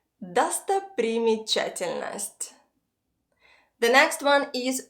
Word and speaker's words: достопримечательность: Достопримечательность. Достопримечательность. Достопримечательность.